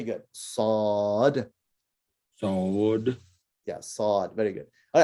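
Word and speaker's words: صاد: right so it's a sod the name of the letter is sod and uh i guess similar to when you say assault right but it's it's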